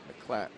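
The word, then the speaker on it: Miclat: sunny day Greg mlat spelled m l a but he said pronounce it as as if there's no eye m clatt a switch hitter he's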